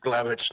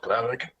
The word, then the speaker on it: Glavic: Just so you all know, my last name is pronounced Glavic, not Glavic.